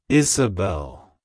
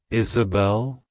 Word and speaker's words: Isabelle: meaning it's pronounced as Isabel Isabel Isabel to pronounce it correctly emphasize the first syllable is and the last syllable Bell avoid pronounce sing the